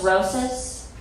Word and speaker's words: Rosas: at panda express my last name's roses sometimes old white people will pronounce it wrong but i just let them know it's rosis as in osteoporosis have this man that's